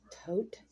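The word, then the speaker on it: Todt: Anthony, I think his name is pronounced Tote.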